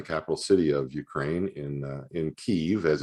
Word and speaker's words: Kyiv: My wife and family were privileged to live in the capital city of Ukraine, in Kyiv, as it's pronounced, from 1997 to 2000.